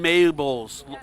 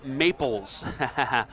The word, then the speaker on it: Maples: Yeah, the distance isn't much, but let's see how Logan Mabels Maples. I said that yesterday. He said, you said my name wrong. Logan Maples from Missouri.